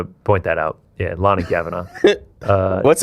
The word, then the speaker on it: Lani Kavanagh: It's it's pronounced Lonnie Kavanaaugh. Well, that's fine, but we're still going loner. Yeah. Yeah. Yeah. Yeah. Just wanted to point that out. Yeah. Lonnie Kavanaaugh.